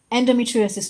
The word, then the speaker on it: endometriosis: Endometriosis, to be fair, is one of those unusual words. It's got six syllables. So, usually, and I'm a daughter of a school teacher, right? So, I grew up with grammar syllables, all that stuff. Breaking it up usually helps.